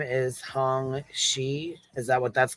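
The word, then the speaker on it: Xie: his name is Hong his name is Hong shei is that what that's called am I saying that right she is that right H she yeah that's how you pronounce that that x i e yeah okay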